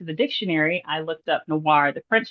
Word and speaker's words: noir: So when I went to the dictionary, I looked up noir, the French spelling, and I saw the NWAR spelling next to it, which is the English pronunciation of the French word.